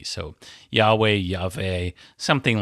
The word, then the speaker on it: Yahweh: It can be pronounced somewhere between the English W and V. So Yahweh Yave, something like that.